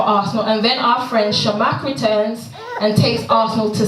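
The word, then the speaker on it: Chamakh: So 13 minutes into extra time, Shamak, is that how you pronounce it? Right. Shamak scores the 5th goal for Arsenal.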